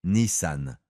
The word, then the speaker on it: Nissan: La prononciation correcte en japonais est Nissan avec un son plus fermé que d'habitude.